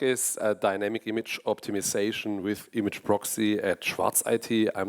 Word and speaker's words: imgproxy: I'm not sure, but the main developer told me that it's called imgproxy, but I find that hard to pronounce with a German accent, but that's why I call it image proxy still.